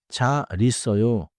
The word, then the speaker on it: 잘 있어요: 잘 있어요. becomes 잘 있어요. in smooth spech 밥 먹어 and 물 마셔요.